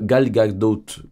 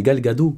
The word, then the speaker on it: Gal Gadot: Woman les prochaines films et donc l'actrice actuelle galgote galgos comment ça se prononce attends la dyslexie qui me rattrape non gale ah mais c'est Gal Gadot oui je suis abruti en effet la